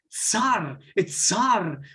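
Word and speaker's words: צר: Todo eso significa, en hebreo se pronuncia tsar, pero más importante es entenderlo.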